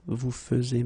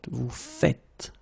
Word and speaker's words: faites: it like that, and it's not vous faisez, but vous faites, okay?